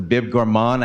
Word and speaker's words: Bib Gourmand: The Bib Gourmand, I had to look it up. I hope I'm pronouncing it right.